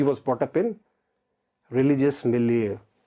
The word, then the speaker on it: milieu: ही और शी was brought up in religious मिलिeu। तो word क्या है जी? मिलिeu। बड़ा प्यार से प्रोनाउंस करना आपने, सॉफ्टली।